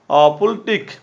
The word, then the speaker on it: FLTK: The FastLight toolkit is pronounced the Pultic, is a cross-platform web-based